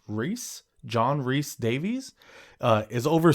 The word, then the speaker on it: Rhys: Being a dwarf, Gimli is the shortest of the warriors in the Fellowship, but his actor, John, I think it's pronounced Rhys, John Rhys Davies, is over 6 feet tall.